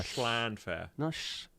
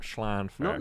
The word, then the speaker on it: Llanfair: It's not a sh sound. It's with your tongue, and it's like a throat It's noise. like vampires live there. Yeah. No, not. The is a CH. Schlanfair. Schlan. Stop hissing in the Put microphone. your, It's weird. put your tongue on the top of your can't do mouth. it. This is Tongue on the roof of your mouth.